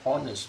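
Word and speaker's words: honest: अब आप बोलेंगे एच ओ एन ई एस टी ऑनेस्ट मैन में तो वोवेल है तो ए हैच साइलेंट होता है तो एन ऑनेस्ट नहीं बोलेंगे हम इसको एन ऑनेस्ट मैन बोलेंगे तो यह वोवेल होगा यहां पे है साइलेंट है इसलिए हमको ऑनेस्ट मैन बोलते हैं एन ऑनेस्ट मैन एन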